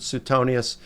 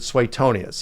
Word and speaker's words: Suetonius: friend um you know he pronounces it swaytonius he said that's the way it is in latin so uh i'm gonna